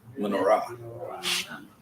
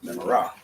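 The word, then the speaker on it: מנורה: And it's actually a little more Ashkenazic because they have the emphasis on the next to last syllable, not on the last syllable like Sephardic like we do.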